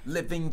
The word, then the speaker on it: living: Então, aqui o G, como vocês devem ter percebido, é mudo, né? Ele mudo. Não tem o som.